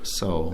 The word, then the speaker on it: Seoul: Is it Seoul or Seoul? Seoul. It's just Seoul. It's Seoul. Yeah. I pronounced the E.